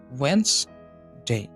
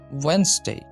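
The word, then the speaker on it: Wednesday: এটা সঠিক উচ্চারণ হবে ওয়েন্সডে। এখানে ডিটা সাইলেন্ট থাকবে, সুতরাং উচ্চারণ হবে ওয়েন্সডে, ওয়েন্সডে, ওয়েন্সডে।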